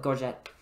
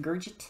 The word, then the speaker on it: gorget: wearing gorgeous or lego no we call it gorget you're you're gorgeous protect your neck with your garget i don't know a